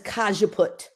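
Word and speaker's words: cajeput: naoli is dirt cheap the other one is kajaput and it's also super inexpensive cause you put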